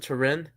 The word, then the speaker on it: Turin: Yeah, I think in English you pronounce it Turin.